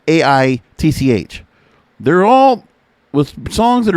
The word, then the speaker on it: Aitch: So it's like spelled H, but like you pronounce it, and it's AITCH.